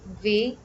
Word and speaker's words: वे: Sometimes, you would see in written Hindi that formal pronoun is spelled as ve. So it's not wrong to say ve गा रहे हैं or वे गा रही हैं.